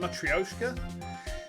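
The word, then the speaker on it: matryoshka: to open all the layers of a m matka doll is that how you pronounce it m or is it matrioska I don't speak Russian I don't speak any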